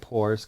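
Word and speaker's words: Poore: minute you'll sense a theme animal advocate scott poor's company mission driven goods is a pet-centric venture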